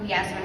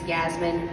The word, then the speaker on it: Yasmin: And this is your contestant number 2, Miss Yasmin. Side note, my name is not Yasmin, it's Yasmin. Yasmin. That's how you say it.